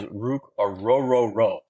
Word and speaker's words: Ruke Orhorhoro: This is Ruke Orhorhoro is how you pronounce his name.